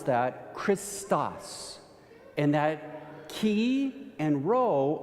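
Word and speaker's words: Χριστός: In the Greek, you would pronounce that Christos.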